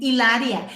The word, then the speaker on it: Hilaria: them how to say her spanish name ilaria it's like with an age but no you don't say hello it's like manchester united